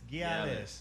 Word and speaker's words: Gyalis: Gyalis. Yes, I put that like Irie in my voice. Gyalis. Just add that Y.